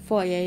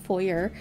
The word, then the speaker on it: foyer: i'm from canada so we pronounce it foyer and not four-year just in case you're